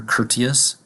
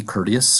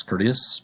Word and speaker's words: courteous: Kerdi in this case we do have a t in the word you might hear courteous but in American English American English likes to change the T sound into a d to economize on language make it easier to say so in this case with a d courteous courteous means to have respect